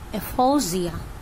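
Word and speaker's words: aphasia: বন্ধ হয়ে যাচ্ছে এফোসিয়া এই যে জ টা লিখেছে এটা এফোসিয়া বা এফোসিয়া অর্থাৎ দন্তেস আর বর্গীর জ দুটোর মাঝামাঝি উচ্চারণটা একচুয়ালি হয় ঠিক আছে কিন্তু সেই লেটারটা তো বাংলায় নেই সেজন্য আমি দুটো স হাইপিন জ দিয়ে দিয়েছি উচ্চারণটা হবে এফোজিয়া ক্লেপ্টোম্যানিয়া ক্লেপ্টোম্যানিয়া চুরি করার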